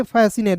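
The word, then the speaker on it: fascinate: ए आता है तो पहले इसको सी को साइलेंट करना है।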